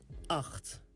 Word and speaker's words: acht: Acht. Pay attention of the g sound. Acht. 9 is negen.